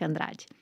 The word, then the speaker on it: Andrade: For people that want to know how to say her name in Portuguese, it's Rebeca Andrade.